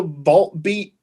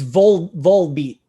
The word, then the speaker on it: Volbeat: How did you pronounce the vault beat? It's Volbeat.